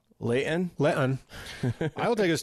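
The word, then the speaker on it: Layton: right but in the local pwa it is pronounced Leon Leon I will take us to Leon Utah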